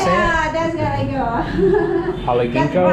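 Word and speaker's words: galangal: Yeah, that's galango.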